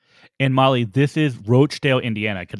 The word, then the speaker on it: Roachdale: and Molly This is roachdale Indiana because it's spelled r-o-a-c-h-d-a-l-e so it is absolutely roachdale yeah not Rochdale as